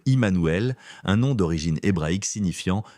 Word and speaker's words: Jmmanuel: Pour un germanophone, cela se prononce comme Emmanuel, un nom d'origine hébraïque signifiant Dieu avec nous.